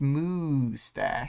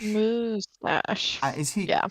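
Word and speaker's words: Moustache: And then Vale's saying it's pronounced Moostache. Moostache.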